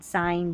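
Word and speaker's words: sign: जी एन जब भी साथ में आएगा न पढ़ेंगे क्योंकि एन का उच्चारण है और जी यहां पर साइलेंट है। देखिए ठीक है? जी साइलेंट साइन डिज़ाइन एलाइन और रिजाइन जी एन दे रखा है।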